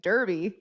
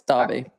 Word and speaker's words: Derby: There is one named Derby. No, it's Derby. Yeah. But it used to be spelled with an A like years and years